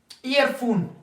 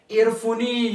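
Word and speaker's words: earphone: प फिर से ई इयरफोन इयरफोन यहां प ई जो है ना वो क्या है साइलेंट काइट काइट काटी नहीं है ऐसा न के एर फुनी या काटी या फायरी नो ये फिर गलत होंगे काइट मींस पतंग शाइन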